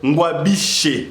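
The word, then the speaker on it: Ngwabidje: Gouverneur ya Sud Kivu Théo Ngwabishwe moi prononciation peut vraiment difficulté. Théo Ngwabishe, voilà.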